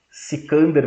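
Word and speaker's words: Iskandar: crianças seja comportado senão C cander vem te pegar quem é c cander cander é a pronúncia persa da palavra Xander Xander é Alexandre em grego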